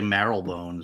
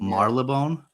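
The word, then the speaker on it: Marylebone: Marleone. Yeah. Marleone. You don't say the Y in Mar.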